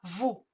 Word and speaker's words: vous: en bleu VO U et le S qu'on ne prononce pas vous envers l o u